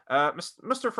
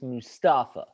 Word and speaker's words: Mustafa: Mustafa Ali, you could have potentially been one of